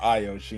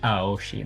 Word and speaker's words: Aoshi: I don't know, but I know you just stood there while I ranted about Ayoshi and how much I hate that. And also it's pronounced Aoshi, not Ayoshi.